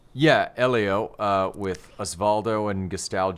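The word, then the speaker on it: Hélio: to see more of this so carlos's brother elo yeah elio uh with osvaldo and gestalt jr are all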